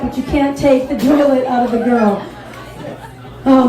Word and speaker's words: Joliet: I don't know if you guys know the Joylet. We call it the Joylet because it rhymes with toilet, because we're known for prisons, and a lot of us are missing our teeth.